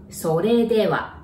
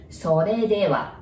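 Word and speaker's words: それでは: Sore dewa. Notice there is R there. So there is no R sound in Japanese, right? You pronounce it like L. Sore dewa.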